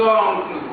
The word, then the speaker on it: oncles: Attention ici, on dit ses oncles. La prononciation Z.